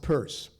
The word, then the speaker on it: Peirce: It's pronounced Peirce.